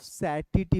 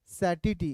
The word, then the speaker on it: satiety: Point of सैटिटी बोलते हैं।